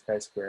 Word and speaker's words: chi-square: and but of course it's not just kai it's square again the square will make sense shortly so we pronounce it as chi square and the formula for